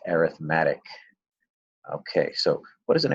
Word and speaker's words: arithmetic: sequences I know it looks like the word arithmetic because it is the word arithmetic but when dealing with sequence in series it's pronounced arithmetic okay so what is an arithmetic sequence first